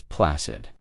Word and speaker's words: placid: Our final word in this topic is placid. Placid with the S sound, the soft C.